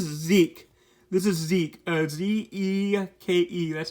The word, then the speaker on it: Zeke: context this is zeke this is zeke uh z-e-k-e that's how you say his name zeke um